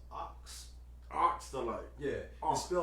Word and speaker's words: Aks: Well, in actuality, man, it's pronounced Ox. Ox the Light. Yeah, Ox. it's spelled AKSDALITE, but Ox.